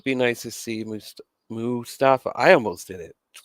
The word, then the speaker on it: Mustafa: how you say it you say mustafa mustafa it's not like mustard it's mu i mean god poor